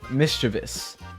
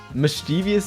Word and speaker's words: mischievous: Okay, so I'm not going to answer this question cuz another thing just came to mind because I know it's pronounced mischievous, but mischievous sounds so much better.